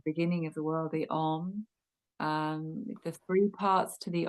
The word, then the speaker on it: Om: of the world, the Om. The three parts to the Om. So there's, if you pronounce this, there's the A, the U, and the M. So there's the and you hold the M longer.